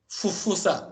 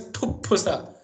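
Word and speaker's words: फुफ्फुस: the cause of confusion, that it should be pronounced as fa, phala, fufusa. That is wrong. It is pupusa. The lungs, what you say lungs in Sanskrit is pupusa.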